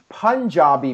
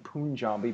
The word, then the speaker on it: Punjabi: All right, so now, the main event of the evening, the Punjabi prison match. I guess that's how it's properly pronounced. For the longest time, I've been saying Punjabi, but apparently it's Punjabi.